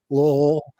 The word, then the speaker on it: Louisville: It's pronounced as one syllable, Lowell, there on the Ohio River.